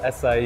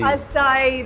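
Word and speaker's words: açaí: So to help me out with that, I'm joined by the founder, Ayman, of Projecto Acai. Acai, that's what it's called. Thank you. I could have sworn I would have pronounced it as acai.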